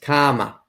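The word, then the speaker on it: karma: call it comma comma in boston we don't pronounce our r's comma comma anyways the comma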